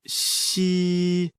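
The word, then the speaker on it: 嘻: the kidneys meridian the pronunciation of shi like the english word she but with the tongue touching slightly the bottom teeth the pronunciation is assisted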